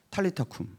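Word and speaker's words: 탈리타 쿰: 아라요 자이 아람어의 발음 아람어의 원발음을 살자면 탈리타이에요 탈리타 리타는 무엇이냐면 소녀야 은 일어나라 탈리타 쿠 근데이 탈리타 쿠이 이게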